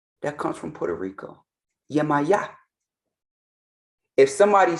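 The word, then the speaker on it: Yemayá: Yemaya. If somebody says Chango, oh, that's my son that's in the Caribbean. They know by the pronunciation. Nobody say Yimiye. What is that? Yimiye. That's disrespectful. Because if right now somebody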